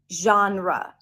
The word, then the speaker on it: genre: like or seems like this word does not have one syllable genre but two syllables genre genre what's your favorite